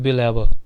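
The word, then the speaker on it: belabour: अक्सर जो इंग्लिश के वर्ड्स होते हैं उनके प्रोनाउंसिएशन में जो लास्ट में आ रहता है उसे हम लोग कम बोलते हैं या कम प्रोनाउंस करते हैं, जैसे बिलैबर, ठीक है।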